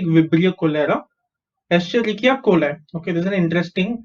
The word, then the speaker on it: Escherichia coli: Okay, so Escherichia coli.